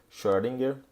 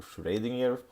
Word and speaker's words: Schrödinger: Bom, uma figura importante nesse cenário, né, foi sem dúvida nenhuma o Irving Schrödinger, ou Schrödinger, né, dependendo aí de quem fala, utiliza uma pronúncia diferente.